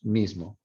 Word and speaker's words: mismo: Pero si fuéramos a hacerlo, la palabra mismo, that I would be nasalized because it's between, it's right here next to a nasal consonant there. Not as nasalized as in Portuguese, but some of the air when you pronounce it would escape through your nose.